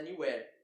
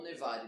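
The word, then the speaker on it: Newarre: A história começa na pousada Marco do Percurso, que fica numa cidade chamada Neware, ou Nevare, dependendo de como você quiser pronunciar.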